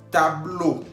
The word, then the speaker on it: tableau: Tableau. Tableau, que significa pizarrón. Estamos viendo al final, tableau lleva E-A-U, que se pronuncia O en español.